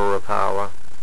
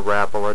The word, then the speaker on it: Rapala: There's a Smithwick there and a Rapala, or Rapala, depends on, I guess, what you're taught growing up, how to pronounce it.